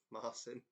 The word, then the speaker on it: Marcin: Sometimes it's in different languages. It looks like one thing, but the pronunciation is not how it looks. Is it a Marcin? Hello, correctly pronounced Marcin.